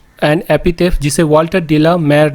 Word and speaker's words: de la Mare: Walter डी ला मेयर, यहाँ मारे लोग पढ़ लेते हैं लेकिन मारे नहीं होता है, वाल्टर डी ला मेयर।